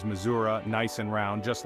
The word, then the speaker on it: Missouri: and vibrant communities now some folks might say Missouri like they're trying to rhyme it with free this pronunciation is common among those who are not from the area but if you want to blend in with the locals you've got to embrace the uh sound it's a subtle yet significant difference that shows you know your way around that's right the correct way to say it is Missoura nice and round just